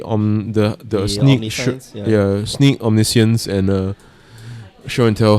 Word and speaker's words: omniscience: it's on the on the the yeah sneak omniscience and uh show and tell hybrid she i' I've been pronouncing it wrongly all this well not but